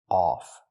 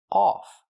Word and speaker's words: off: The word is pronounced off. We cannot use the short sound like cup and up. The word is pronounced off. We use the sound like on, off, ball, call, audio. It's back here.